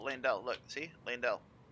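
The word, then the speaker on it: Leyndell: laying down look see lane dell oil capital and i know i say it right because the dude in the roundhouse table says it like that that's true i'm pretty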